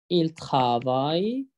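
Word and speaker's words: travaillent: إل ترافاي، آخرها أو إن تي، ما بتتنطقش. هم يعملون. إل ترافاي، هون يعملنا، آخرها أو إن تي. يبقى الدبل إل هنا لا تنطق. جو ترافاي، تو ترافاي، إل ترافاي، إل ترافاي، أون ترافاي،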